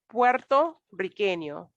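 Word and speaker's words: puertorriqueño: what's the next one puerto riqueno with two r's you're gonna roll your tongue old 164 puerto riqueno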